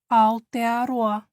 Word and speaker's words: Aotearoa: it's by the public health communication Center in aloa ALA that's how to pronounce it better um this is a group